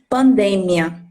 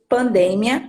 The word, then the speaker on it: pandemia: anos que é pandemia em português pronunciamos pandemia mas em espanhol pronunciamos pandania é a mesma escrita mas devido a sílaba tônica a partir essa diferença pandemia português pandemia português pandinha espanhol pronto esses esses